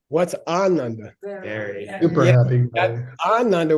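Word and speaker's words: आनन्द: Ananda with a long A means very happy person.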